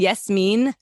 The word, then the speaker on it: Yasmine: it's a softness yes it's like saying yes mean like yes she's mean but i'm not that